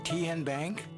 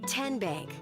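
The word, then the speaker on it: TNBank: How do you say the name? Ken Bank. Nope. Tin bank. Uh-uh. So, what is it? Tenbank. 10 as in Tennessee.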